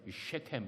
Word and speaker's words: 세겜: 그리고 세겜이라고 하는 곳, 제가 미국에서 공부할 때는 셰켐 이렇게 발음을 했습니다.